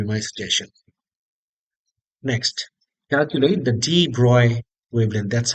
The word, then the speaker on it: de Broglie: Next, calculate the de Broglie wavelength. That's how it's pronounced.